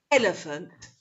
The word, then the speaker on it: elephant: Which syllable is stressed in B? Is it E, or is it L, or is it N? Okay, shall we have a look? So if you said elephant, that's right.